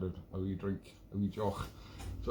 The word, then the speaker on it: Deoch: And it's a Jock is Gaelic for a drink, spelled with a D, but I won't go into the weird pronunciation of the Gaelic language.